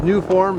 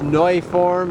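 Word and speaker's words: Neuform: Powering it up front is the uh what we would say is new form. It's noi form is the proper pronunciation of it.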